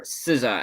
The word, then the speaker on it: SZA: Anyway, the real winner for favorite female artist, Sza, or Siza as it's pronounced.